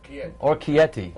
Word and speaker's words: Orecchiette: I won't even try my Italian pronunciation. Orecchiette. Orecchiette.